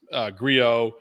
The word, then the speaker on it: Grillo: Grillo, that's the proper pronunciation.